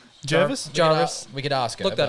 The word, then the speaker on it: Jervis: believe okay is it Jervis Jervis Jarvis we could ask look that up Jarvis and also lyanna oh it does the mouth Jervis or Jarvis Bay in Australia American pronunciation British I hope you got